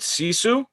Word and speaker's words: Sisu: So you said something about living, and tell me if I pronounce this wrong. Is it Sisu?